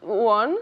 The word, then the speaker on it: won: Would you've won? Would you have won? Won, bajando la mandíbula.